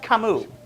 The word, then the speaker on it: Camus: Also, it's pronounced Camus.